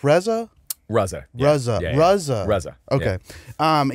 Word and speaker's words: RZA: was watching your podcast with Reza is it pronounced Reza RZA RZA rzaa okay um yeah and I